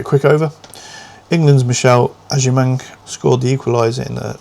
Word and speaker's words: Agyemang: Michelle Aimang, I believe, is how you pronounce it.